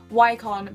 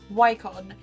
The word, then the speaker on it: Wycon: And this is an Italian brand of makeup, and I think it is pronounced Wycon, but I might be wrong. I'm holding it upside down. Wycon, W-Y-C-O-N, and the lady